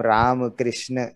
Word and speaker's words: राम कृष्ण: तो उसको जब बाद में आजकल हम लोग पढ़ते हैं तो उसको वो रामा कृष्णा की तरह बोलने लगते हैं, जबकि वो राम कृष्ण इस तरह का उच्चारण है।